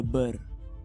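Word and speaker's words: birr: leur monnaie et le beurre on écrit bill brrr mais la bonne prononciation et beurre parfois appelée dollars éthiopien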